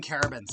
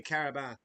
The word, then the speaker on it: Carabins: Sorry, I got to stop saying Carabans. It's technically Carabath. You don't pronounce the S. It's French.